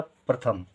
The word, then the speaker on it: प्रथम: प्रथम, थम, ना ही था के साथ कोई उच्चारण और ना ही माँ के साथ कोई उच्चारण, तो था खाली, माँ खाली, हो गया प्रथम।